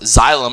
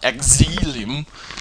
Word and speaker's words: xylem: remember that it's pronounced xylm and not Exum is there's that Z right there that's reminding you how to pronounce it so all of it's